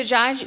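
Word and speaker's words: dziadziu: So Jaju So Jaju is grandfather. So in Polish it's spelled like Dz I A DZ A U.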